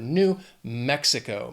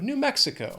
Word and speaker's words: New Mexico: 4 syllables. Again, the stress is on that first syllable of the second word. New Mexico. Mexico. New Mexico.